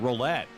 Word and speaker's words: Rollette: Well, I've been saying roulette. Roulette, okay. You know, being down at Atlantic City or Las Vegas, the roulette wheel.